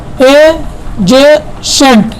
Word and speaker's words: adjacent: ADJACENT, इसको कैसे pronunciation करेंगे हम, एजेसेंट। क्या पढ़ेंगे, एजेसेंट पढ़ेंगे इसे और इसका मतलब होता है बगल में, एजेसेंट। यहाँ पे देखिए डी का प्रोनाउंसिएशन नहीं हो रहा है।